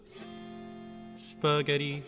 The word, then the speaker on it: spaghetti: But it can't be spaghetti because spaghetti stresses the second v syllable. So spaghetti.